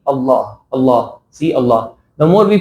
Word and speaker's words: Allah: Do not make it a very extra or abnormal type of pronunciation. It has to be in a normal way. It shouldn't be very, very heavy pronunciation. Allah will become something else. But it is like in a relatively heavy Allah.